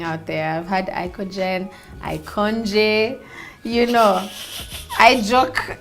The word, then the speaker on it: IKOJN: So IKOJN is basically just flip it around, you get IKOJN, and then the J is silent.